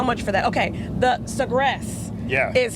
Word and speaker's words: Sagres: Okay, the Sagres. Yeah. Is how you pronounce that.